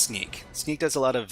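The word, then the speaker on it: Snyk: So, Sneak says uh so it's pronounced Sneak.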